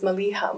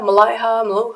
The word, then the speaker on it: Maliha: came from because most people couldn't pronounce my name right they were like Malia Malaya they just couldn't do